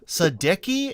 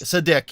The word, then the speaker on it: Sadeqi: Sadeqi. Is that how your last name is said? Yes. Sadeqi. It's actually the sound that Sadeqi, yes. Sadeqi. Okay, Exactly. Sadeqi. So, for emphasis on the first syllable, well, that's a big